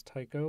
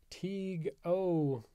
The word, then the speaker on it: Tycho: Of course, us English speakers like to mispronounce this as Tycho, which I recently learned when I had a student named Tycho in one of my classes. But that's neither here nor there. What is here is the fact that apparently his name wasn't even Tycho. It was Teague O.